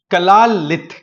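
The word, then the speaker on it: Kalaallit: है यहां पर कलाल कला लित कला लित बोलते हैं इनको ना स्पेलिंग यहां पर मैं लिख देता हूं प्रॉपर कला के A double L A double L आई टी कला लित यह कम्युनिटी आपको ग्रीनलैंड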